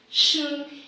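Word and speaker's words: 旬: In terms of nature's bounty, I want to talk a bit about hashiri, shun. It's unfortunate that in English there's not an umlaut, So it's pronounced shun instead of shun, which would mean to avoid.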